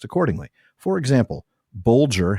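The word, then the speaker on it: Bolger: For example, bulier has G as in bulge and math rhymes with fathom.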